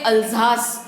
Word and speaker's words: Alsace: एक चीज़ मुझको कहनी है कि ये जो ALSACE शहर का जो नाम है, इसको गूगल में अगर देखा तो आपको वहाँ पे अल्जास ये प्रोनाउंसिएशन नजर आएगा, लेकिन इस वीडियो में जो प्रोनाउंसिएशन है वो डिफरेंट है।